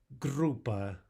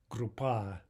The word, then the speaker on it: группа: Группа, группа. Contrast that with группа, группа. Right? Hear the difference? Группа is what we want to say.